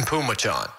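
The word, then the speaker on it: Phommachanh: i've looked it up so it's t-a-i-s-u-n that's pronounced tyson and p-h-o-m-m-a-c-h-a-n-h oh it's tyson pumachon really tp tyson pumacho all of that just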